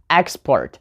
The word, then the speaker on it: export: then we have such known as export so we put the noun who put the stress on export right on the first syllable export then adjectives we have